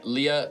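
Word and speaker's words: Lyia: some deeper law uh uh yeah uh yeah Leah L Y I A Leah. Of course that's how you spell it.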